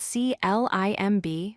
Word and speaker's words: climb: Look at the word climb. It's spelled C-L-I-M-B, but we pronounce it as climb. The B is not pronounced.